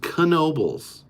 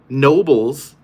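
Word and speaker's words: Knoebels: is pronounced differently but in that context the theme park is pronounced kobal that is the family that owns the theme par they still own it I have met them they pronounced their last name like that there's it's not it's not up for debate the only people that call it Nobles are people that don't know better I just like I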